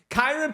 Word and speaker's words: Kyren: Kieran or Kairen Paris. Kairen Paris.